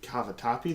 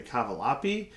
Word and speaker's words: cavatappi: But what do you guys think would qualify as the world's most mispronounced word? Working at Noodles and Company, people don't know how to say cavatappi. They say cavalapi.